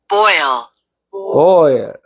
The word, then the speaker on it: boil: L 발음이 있으니까 보일 비슷하게 해야 돼요. L 발음이 R 이렇게 되니까. 다시 한번 따라서 해보세요. boil, 그렇지. 정확하네. boil, 예, 영어는 L 발음을 정확히 합니다.